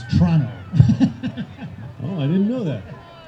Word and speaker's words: Toronto: and you know tom you don't pronounce the first o in toronto it's toronto oh i didn't know